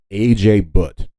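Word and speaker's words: Ajay Bhatt: The main guy who created the USB is a man by the name of A.J. Butt. I think that's how you pronounce his name.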